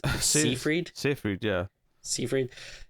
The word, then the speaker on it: Seyfried: say your last name I always want to say Siegfried but it's soon freed so if we see